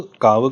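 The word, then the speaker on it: Kaavu: वी यू लिखते हैं वो यू को उ करके प्रोनाउंस नहीं करते हैं इट्स बेसिकली जहां पर हलंत नहीं लगता है सो का अ व नीचे हलंत नहीं है तो प्रोनाउंस वैसे करते हैं काव नॉट कावू ब वो इंग्लिश में लिखते काव लिख दिया ना तो लोग उसको काव काव बोलते हैं इट्स नॉट काव इट्स काव सो काव काव का जो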